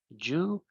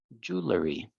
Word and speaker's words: jewelry: Esta es una pronunciación rara. Es como you, como si fuera una U, jewelry, jewelry, jewelry, okay?